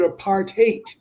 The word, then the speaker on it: apartheid: Uh but it meant and it means literally apart and hate.